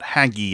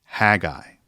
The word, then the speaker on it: Haggai: it's simply pronounced habakkuk and haggai is just a two-syllable word not haggy i haggai let me tell you